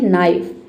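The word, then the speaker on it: knife: तो देखिए जब किसी वर्ड में के बाद अगर एन हो तो वहां पे के लेटर साइलेंट रहेगा।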